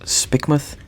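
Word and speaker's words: Spikemuth: to point out that my girlfriend is telling me Spike myth is pronounced spikmoth she's British so she's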